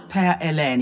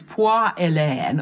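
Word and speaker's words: Poire Hélène: Because there's no such dish as Pear Elaine. It is Poire Elaine or Pear Helen.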